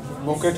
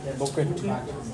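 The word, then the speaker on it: bouquet: তাহলে স্যার বুকেট হবে স্যার বুকেট বুকি উচ্চারণটা হচ্ছে বুকি। কি এর উচ্চারণ হবে না, বুকি।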